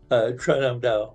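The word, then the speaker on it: Trần Hưng Đạo: I mean, so the antagonist, and tell me if I'm saying the name wrong, Tran Hung Dao, correct? Yeah, Tran Hung Dao, yes.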